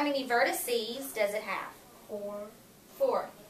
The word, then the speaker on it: vertices: say that vert so how many vertices that's how you say it if you say it plural which means more than